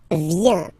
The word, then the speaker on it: viens: First form, je viens. Final S not pronounced. Je viens. Remember, I-E-N, ien, ien. Je viens.